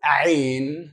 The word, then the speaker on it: Ain: And this letter is Ain, pronounced from the throat.